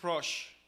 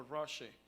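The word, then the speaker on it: ראש: Y su fonética es Rosh. Rosh. Miren cómo se escribe en hebreo, efectivamente. Este es en hebreo, se pronuncia Rosh o Roshe. De acuerdo a la fonética en inglés, Roshe.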